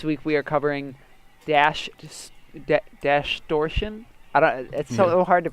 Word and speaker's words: Dashtortion: we are covering dash dash torsion is so hard to pronounce its distortion but with dash so London is great